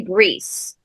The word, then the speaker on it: Brice: do in the South but it's spelled with an i so it's actually Greece now we live in an English-speaking country so for many generations it's been it was turned to Bryce but the were